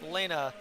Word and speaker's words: Lena: Number 2 is Lana Bressler, but last year I believe we had a Lana that was actually a Lena Bressler, like Lena kind of instead of Lana, so that was a pronunciation thing I didn't know about until late in the tournament.